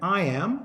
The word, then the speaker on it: iamb: Shakespeare's poetic writing and I am is two syllables the first is unstressed the second is stressed so goes dee dum